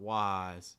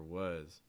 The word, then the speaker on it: was: word here was was it's not wise it's more was was control your mouth close it more okay let's read through